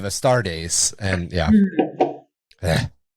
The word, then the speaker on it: Astartes: The one that I fucked up a lot in the early podcast was Astartes. Because- Astrades. Because I'm a Dune guy and House Atreides. So Of I would course, do Atreides instead of Astartes.